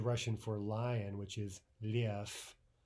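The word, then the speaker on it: лев: use the English letters, L-E-V, right? It ends with a V in Russian, a V, but it's pronounced as though that final V were an F, lev, right?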